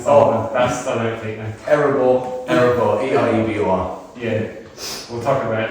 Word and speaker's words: Erebor: So, how do you pronounce the band name? That's the song. That's the outtake now. Erebor, E-R-E-B-O-R.